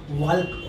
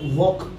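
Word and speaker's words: walk: इसका उच्चारण कैसे होगा, वाल्क वॉक जो बोलते हैं, टॉक बोलते हैं उसको वाल्क बोलते हैं, वो स्पेलिंग पकड़ पकड़ के बोलते हैं, तो उनके उच्चारण को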